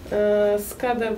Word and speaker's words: Skadar: And also has the Lake Skadar. How do you say it? Skadar, but we actually call it Skadarsko jezero.